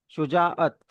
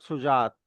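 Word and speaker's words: شجاعت: Sound दे रहा है, तो उसको अलग से प्रोनाउंस करना है पॉज देके, मतलब शुजाअत, नॉट शुजात।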